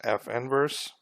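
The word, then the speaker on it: f⁻¹: The inverse function of f is written as f, and then it looks like it's an exponent, f negative 1, but we would pronounce this as f inverse.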